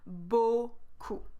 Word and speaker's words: beaucoup: Beaucoup.